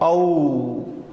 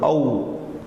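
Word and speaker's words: औ: And then we have the longer one of O, Au, like in the word cow, C-O-W, Au.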